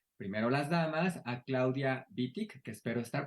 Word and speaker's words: Wittig: Tenemos primero las damas, a Claudia Wittig, que espero estar pronunciando bien su apellido, si no, ella ya me corregirá. Claudia Vitti, que es profesora de la Escuela de Humanidades